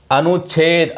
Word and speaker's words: अनुच्छेद: कि इस नियम में, च आगम वाले नियम में च का उच्चारण नहीं होगा। अनुच्छेद अनुच्छेद च नहीं बोला जा रहा है, अनुच्छेद अनुच्छेद ही बोला जा रहा है। च का उच्चारण इसमें नहीं हो रहा है।